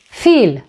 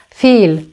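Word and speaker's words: فيل: Another option is, for example, the word Fil, Fil, which means elephant, feel. Again, here it's the long vowel E and it's pronounced as long vowel E, feel.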